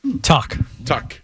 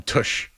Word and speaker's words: Tuch: Tuck. Alex Tuck. Because I wanted to call him Tush, but I didn't.